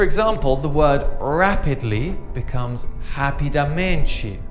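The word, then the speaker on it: rapidamente: the word rapidly becomes happy dementia remember that H sound at the start for the letter R and basically becomes bazi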